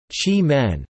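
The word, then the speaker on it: Qimen: of the name of the nearby town chiman pronounced chi men the tea growing region lies between the yellow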